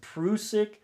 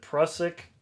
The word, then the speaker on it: Prusik: diego with the fruit now it's apparently it's pronounced prusik but everybody in america calls it prussic you know tomato tomato whatever people get all